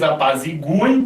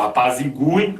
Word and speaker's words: apaziguem: formas, ó, que eles apaziguem, que eles obliquem. O U continua tendo, né, uma pronúncia tônica, tá? Ó, apaziguem, obliquem, né, era colocado o acento para dizer que aquele U era tônico, mas agora, né, continua